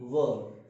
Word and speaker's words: were: अब क्या करते हैं, आर का उच्चारण जो है प्रोनाउंसिएशन साइलेंट है, आर को बोला नहीं जाएगा।